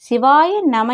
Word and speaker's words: சிவய நம: சிவாய நம என்பதை சிவய நம என்றே உச்சரிக்க வேண்டும்.